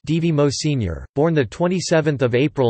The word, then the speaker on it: Edvard Moser: Edvard Ingjald Moser, pronounced D.V. Mo Sr., born the 27th of April 1962, is a